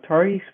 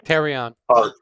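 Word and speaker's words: Taurean: I think the Tariq Prince, is that how you say his name? Terrion. Yeah.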